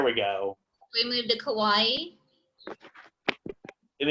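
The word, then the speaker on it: Kauaʻi: go we moved to kauai and it's kauai so pretty easy like hawaii kawaii kauai and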